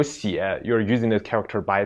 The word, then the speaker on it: 血: So it's 是的血. 对的 And if it like go with other characters and become a word, then it should be pronounced as 血 So if it's a